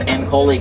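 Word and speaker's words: Ankole: Off in the distance on your right, you'll see some ankoli cattle. Rhymes with holy cow, as in holy cow, those horns are big.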